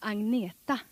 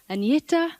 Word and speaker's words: Agneta: Hello, I'm Agneta. I know it's very hard for you to pronounce, but you can say Agneta or you can say Anna.